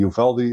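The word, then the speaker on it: Uvalde: everything well I mean you actually got the ufaldi uh pronounced it right a school shooting where the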